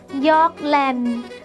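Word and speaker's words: หยอกเล่น: ท้าย ค่ะ คำ ว่า หยอก เล่น หยอก เล่น คำ นี้ เมื่อ ออก เสียง เป็น สำเนียง ภาษา เจ๊ะเห เรา จะ ออก เสียง ว่า หยอก เล่น หยอก แลนด์ ซึ่ง มี ความ หมาย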